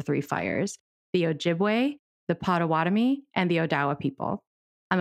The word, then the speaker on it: Potawatomi: but after some review potawatomi is the correct even though anglicized way to pronounce that name of that tribe boduewadmi is how we